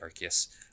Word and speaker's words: Arceus: yes they with pokemon uh arceus or i pronounce it arceus but it's technically arceus that's where they really start to introduce these